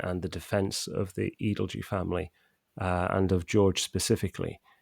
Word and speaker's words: Edalji: the edelge case and we now know it's uh pronounced edelge as a result of a letter that that george wrote that that that's included